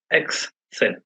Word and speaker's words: Excel: example Excellence okay so Excel is pronounced as X cell spreadsheet application as you